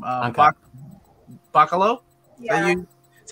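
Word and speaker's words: Bachalo: though yeah chris uh what's his name uh buccalo yeah you that's how you say it um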